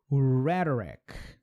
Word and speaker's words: rhetoric: Rhyme, rhetoric, tá? Rhetoric. De novo o R lá.